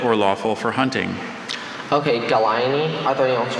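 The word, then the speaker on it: gallinae: Okay, Galaini, are there any alternate pronunciations?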